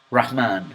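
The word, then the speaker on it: رحمن: English speaker they would be pronounced like this quran rahman and rahim notice that that are has almost no vibration at the time but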